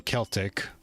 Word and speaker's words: Celtic: Also the first C in Celtic is pronounced like an S. Celtic, thank you.